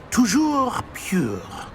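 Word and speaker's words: toujours: Tujour.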